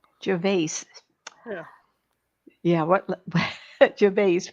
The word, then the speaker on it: Gervais: how do you pronounce that? Gervais. Gervais.